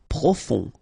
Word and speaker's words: profond: Profond, final T not pronounced, O-N, on, profond.